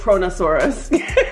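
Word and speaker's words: Kronosaurus: Oh, no, it doesn't say Corona, it's Cronosaurus. Corona, oh, my bad.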